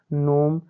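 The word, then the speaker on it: gnome: करेंगे जैसे एन ओ एम ई क्या हो जाएगा बच्चों नोम फिर आगे एफ ओ आर ई आई एन क्या हो जाएगा फॉरेन इसी प्रकार आगे आर ई एस आई N region फिर डी आई एस आई एन क्या हो जाएगा बच्चों डिजाइन तो इस प्रकार बच्चों हम जी वाला समझ सकते हैं कि कहां जहां पर एन से पहले क्या आया है जी आया है तो यहां उदाहरण में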